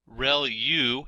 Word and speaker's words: ReLU: There are multiple hidden layers like convolution layer, ReLU is how that is pronounced, and that's the rectified linear unit.